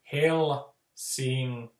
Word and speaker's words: Helsinki: Like with Helsinki, the ls at the middle of the word, those repel each other. So it's like they're two negative, you know, poles rejecting each other. So that, you know, the Finnish language, it just doesn't like the ls sound. So that the way to say Helsinki in rhythm is to say Helsinki.